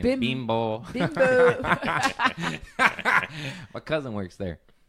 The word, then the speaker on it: Bimbo: But you gotta say it like Mexican. Bimbo.